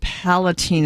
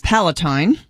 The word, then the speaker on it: Palatine: city uh I said Palatine it's Palatine rhymes with Palestine Palestine Illinois um and